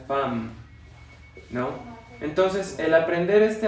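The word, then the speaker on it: femme: Esta EM en realidad se debería de pronunciar en, nasal, pero después le agregamos una ME, entonces se debería de pronunciar fem. ¿Pero qué creen? No se pronuncia fem, se pronuncia fam, ¿no?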